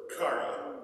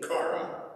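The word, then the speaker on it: χαρά: no different so here's this week's greek word kara you want to say that with me cara if you were to write it in english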